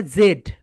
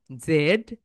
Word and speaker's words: z: তাহলে ব্রিটিশরা এটাকে বলে জেড, জেড। একটু নোট নাও, ব্রিটিশরা বলে জেড এন্ড আমেরিকানরা বলে জি, জি, জি।